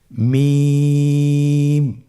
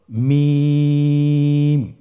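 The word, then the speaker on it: ميم: মিম হরফটি উচ্চারণের ক্ষেত্রে অবশ্যই বারিক হবে, পাতলা হবে এবং তিন আলিফ টেনে উচ্চারণ করতে হবে। আমার সাথে আরেকবার চেষ্টা করুন। মিম আবার বলুন মিম হরফটির উচ্চারণ স্থান দুই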